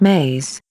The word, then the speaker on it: me: systems which we will call me's pronounced maze belief system and words